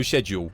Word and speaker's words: schedule: The C is meant to be silent, so I think it's schedule. You pronounce it as if it's weird. It's like it's got a sound.